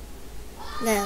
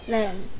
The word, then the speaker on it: lamb: Lamb. One more time. Lamb. Lamb. Which letter is silent letter? B.